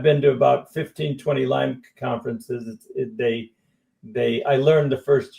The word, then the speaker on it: Lyme: Well, I've always said Lyme's disease. Yeah, I've been to about 15, 20 Lyme conferences.